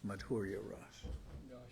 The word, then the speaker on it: Madhurya: Yeah, but I'm thinking of the Madhura Ras. I said it wrong before, but this is Madhurya Ras.